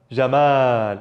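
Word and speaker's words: جمال: Jamal. Jamal, even if you have to extend, Jamal, okay?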